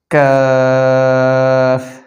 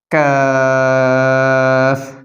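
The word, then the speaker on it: قاف: পাঁচ নং মাখরাজ হচ্ছে জিহ্বার গোড়া থেকে একটু আগে বাড়াইয়া তার বরাবর উপরের তালুর সঙ্গে লাগাইয়া আর পাঁচ নম্বর মাখরাজে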